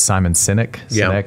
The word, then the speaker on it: Simon Sinek: She listed Simon, and I always get this name wrong. It's Simon Sinek.